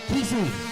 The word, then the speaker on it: Kesey: So Nelson overtaken by Trenton Cassey for the lead. Get back there and keep him off. All right, folks. Kesey, now I see how to say it.